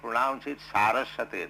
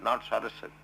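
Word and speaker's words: Sarasvatī: You should pronounce it Saraswati, not Saraswati.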